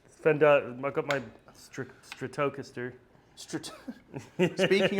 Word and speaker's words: Fender: on your Deluxe Fendare. Fender.